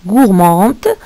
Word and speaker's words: gourmand: Une gourmande, ça s'écrit avec un DE. Gourmand, ça s'écrit avec un D, parce que c'est le masculin.